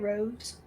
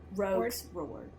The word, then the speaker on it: Rogue's Ward: Is how you say it, Roves? Rogue's Ward. Like Rogue, like Kassandra as a rogue, like Rogue's Ward.